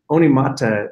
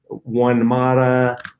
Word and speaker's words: Onemata: read them in and Oni mata means rich fertile soil in Maori and you know so we would have everybody read it to them and everybody mispronounced it you know one mata one Mita all kinds of you